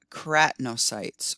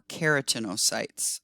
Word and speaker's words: keratinocytes: The cells, which are shown as pink here, this layer right there, are called keratinocytes or keratinocytes. I've heard it pronounced both ways.